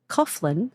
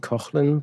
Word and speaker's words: Coughlan: I would pronounce it Coughlan, but apparently it's an Irish name. There are different pronunciations depending on which region you're from in Ireland.